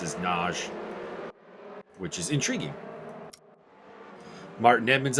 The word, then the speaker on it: Nagy: I guess it's a really popular last name there, and it's generally pronounced as Naj, which is intriguing.